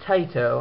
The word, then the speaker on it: Taito: It was developed and published by Taito, I believe that's how you pronounce it, which is a Square Enix company, and was released late last year in July.